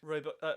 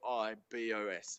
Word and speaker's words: rooibos: that it just a hundred percent what's good roy bosch however you want to say it really boys rude rude boys i'll start calling it rude boys yeah so it's to spell it it's r o o r-o-o-i-b-o-s if no one's had a so it could